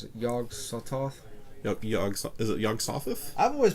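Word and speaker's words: Yog-Sothoth: not too much about okay nameless myth had yog Sothoth I learned how to pronounce it yog sawed-off yog Sothoth I've always pronounced a yog sawed-off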